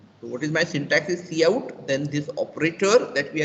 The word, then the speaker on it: cout: Pronounced as cout. Okay, so that is what I am pronouncing. This is called as cout.